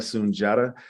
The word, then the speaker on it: Sundiata: As Maryella said, my name is Soon-Jahta. Soon-Jahta, spelled differently, but pronounced the same.